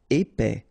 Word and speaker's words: épais: Épais, final S not pronounced, A-I together, épais, épais.